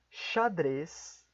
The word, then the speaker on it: xadrez: grande parte das vezes a letra x assim como já está o nome da letra x será pronunciada como ch vejamos primeiramente algumas palavras